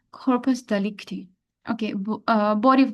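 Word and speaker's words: corpus delicti: mind then there is कॉर्पस डेलीसिटी कॉर्पस डलिकटी इट्स डिकटी actually I am pronouncing things wrong कॉर्पस डलिकटी okay body of द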